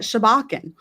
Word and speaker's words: Sobjakken: Shabbakan. Shabbachan. Yeah. I was like, it's forgot it was like the S sound in it. Yeah. Like, but Shabbachan. Yes, exactly, Mandy. That's how we remember it. But Shabbakan.